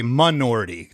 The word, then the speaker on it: Minority: I didn't like the first single, Minority, but it was they would say minority to to rhyme with majority.